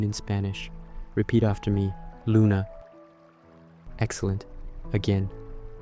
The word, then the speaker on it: luna: It's pronounced like oo, similar to the sound in the English word moon.